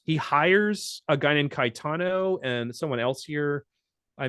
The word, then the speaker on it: Caetano: just wondering because in Italian, Caetano is how you say Cajetan, and I was wondering if that was like he took that.